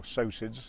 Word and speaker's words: psocids: There's actually 800 or 900 different types of these psocids, or psocids as you pronounce it.